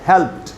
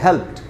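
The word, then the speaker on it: helped: ये आप देख रहे हैं हेल्प में जो डी है, ये डी, इसे यहाँ पर ड का नहीं ट का साउंड बनेगा, हेल्प्ड। तो इसको पढ़ना चाहिए हेल्प्ड, यानी हमको इसको ठीक से पढ़ना चाहिए ऐसे अच्छे उच्चारण के साथ।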